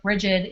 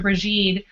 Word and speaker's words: Brigid: think that the best place to start with bridgid is starting with her name and um snar was pronouncing it correctly in and calling her brege or bried um since this book came out I've been